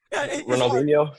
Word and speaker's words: Ronaldinho: Ronaldinho.